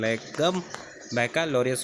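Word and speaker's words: Legum Baccalaureus: अब ये bachelor of लॉ तो हमने अपनी सुविधा के लिए बना लिया, लेकिन इसका एक्चुअल प्रोनाउंसिएशन लीगम बैकलॉरियस होता है।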